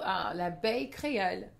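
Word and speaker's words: l'Abeille Créole: So l'Abeille Creole, which is kind of phonetically, it could also be la belle Creole, which is like the beautiful Creole, but it's actually the Creole bee.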